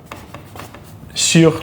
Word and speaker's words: sûr: Sûr, like sure, this means the same thing as sure, to be certain.